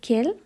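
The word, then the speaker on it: quel: be different words so the pronunciation is same that is kale but the word spellings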